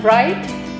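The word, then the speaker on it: write: In right, W is silent.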